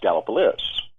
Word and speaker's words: Gallipolis: it's actually spelled galliopolis oh okay but it's pronounced gallopolis so we were actually in uh in the